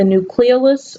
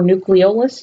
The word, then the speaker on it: nucleolus: copies of RNA and it also contains the nucleolus or nucleolus you can pronounce it either way which is where